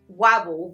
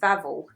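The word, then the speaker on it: Wawel: Warwell Vlavvel Vlwell Castle Vvel cuz they so they pronounce their W's as V's. So vodka bar we would say vodka. Yes. Okay. So it's wobble but they say vavvel.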